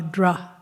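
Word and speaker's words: dhṛ: Well, the Sanskrit root for Dharma is just the syllable D-H-R, dra.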